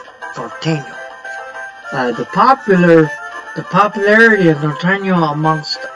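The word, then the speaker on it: Norteño: That's spelled Norteno. Nortaino.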